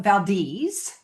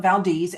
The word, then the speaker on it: Valdez: The locals call it Valdis. It's spelled like Valdez, but they call it Valdis.